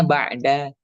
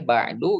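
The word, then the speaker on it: بَعْدَ: Berarti ini harus dibacanya ba'da. Ini harus dibacanya fauqo, gak boleh ba'du, gak boleh fauqu, gak boleh ba'di, gak boleh fauqi.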